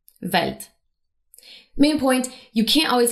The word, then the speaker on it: Welt: For example, the letter W in German is pronounced more like the English V. In linguistics, we call this a voiced labial velar approximant. But for now, we'll call it the V sound. So the word for world in German is spelled with a W at the beginning, but it's pronounced Welt.